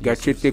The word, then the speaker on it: Gatchete: Gatchete que l'on prononce avec l'accent du Sud. Comme tu dis, c'est important.